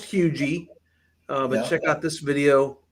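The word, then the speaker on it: Huger: Um, when I first moved here, I thought it was Hugger. Uhhuh. Yeah. A lot of people live here all their life and they still think it's Hogar, but it is pronounced huge.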